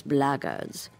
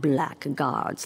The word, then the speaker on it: blackguards: you're another one of those blaggards and that's the way to pronounce it not blackguards like that thug insisted it was then my answer